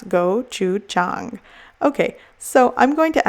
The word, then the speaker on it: gochujang: right here on the label for you to pronounce gochujang okay so I'm going to add some gochujang